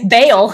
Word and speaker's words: Baal: No, nope, that's Baal.